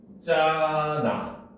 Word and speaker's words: 있잖아: 나는 있잖아 할 때 있잖아 같은 경우는 저 짠 아 라고 쓰지만 발음을 하면 어떻게 있자나 요렇게 발음이 됩니다 알겠습니까 여기서는 두 가지가